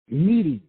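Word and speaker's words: knead: That's called needy. But it's not spelled N-E-E-D. It's spelled K-N-E-A-D. Need. Like when you are combining bread together.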